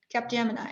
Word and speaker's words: Capgemini: And in his past, he was a business transformation consultant at Capgemini. Capgemini, am I saying it correctly?